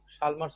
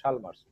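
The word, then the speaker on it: Chalmers: ওকে, Chicago উচ্চারণ যেরকম, শালমার্স উচ্চারণ সেরকম। কেউ কেউ এটাকে চেমার্স উচ্চারণ করে, আসলে হবে শালমার্স।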